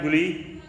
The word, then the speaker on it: GUI: GUI इज the pronounce like गुली, तो उसका प्रोनाउंस गुली होता है भाई, ये दिया है वर्ड हमारा भी, तो इसे छोड़ दीजिए, आप कोई खास नहीं है।